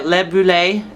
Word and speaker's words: Libellule: Her name is Libellule, and that is, I think I pronounced it right, Libellule.